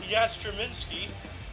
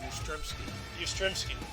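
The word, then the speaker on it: Yastrzemski: schwarzkopf yep yep karl yastraminsky 1939 and the us baseball news what carl ustrimski there you go well where's the u i don't know why is you sometimes it's pronounced that way all right he was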